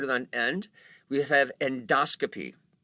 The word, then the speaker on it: endoscopy: on end we have endoscopy now note the pronunciation endoscope endoscopy just the way it works in medical terminology you'll get used to it it is not an endoscopy although people will say that an endoscopy of course